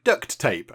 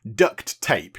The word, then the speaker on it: duct tape: have some duct tape you don't sort of pronounce the separate tur on the end of duct and then the start of tape he's like I've got some duct tape so it sounds a bit like duct tape right go with me